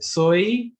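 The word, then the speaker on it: soy: हम बोलेंगे सोई, सोए नहीं बोलेंगे, सोई दे इंडिया। ओके, इंडिया नहीं बोलेंगे कि हमें स्पेनिश में प्रोनाउंस करना है, तो बोले सोई दे इंडिया।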